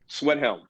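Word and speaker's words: Schwedhelm: Sorry, I can't pronounce his last name. That's the Sweathelm. Sweathelm.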